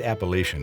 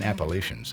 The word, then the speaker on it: Appalachian: The word Appalachian is derived from a different indigenous North American people, the Appalachians, who lived in the Florida Panhandle.